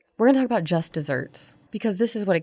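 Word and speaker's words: just deserts: got what she deserved it's pronounced like dessert like a sweet treat but it's spelled like deserts and that word was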